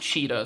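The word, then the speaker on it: CHXXTA: So, it's I guess their logo is C H X X T A, but it's pronounced Cheetah. So, just imagine those X's are E's and that's their new company that they are with.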